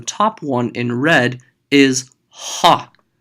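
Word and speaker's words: ὁ: one in red, is ha. Notice it's an omicron with a rough breathing over it. That means there's going to be an H sound at the beginning.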